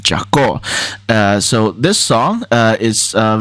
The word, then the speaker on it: Jako: I was pronouncing it Jacko earlier, but one of my friends, Fia from earlier, she's actually ethnically Armenian, and she told me that the song title is actually pronounced Jako.